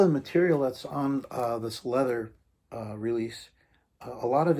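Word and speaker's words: Läther: this was cool leather leather actually is how that's pronounced it looks like lather like lather rinse repeat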